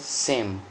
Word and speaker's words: Shem: Hebrew it is pronounced as Sem. S-E-M, Sem.